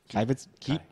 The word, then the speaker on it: Kibitzer: How you pronounce it again? Kibitzer.